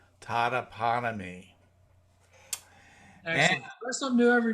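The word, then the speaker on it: Totopotomoy: And you'll like this, is that Unan says, the last O in Totoponomy Creek is silent. It is pronounced Totoponomy.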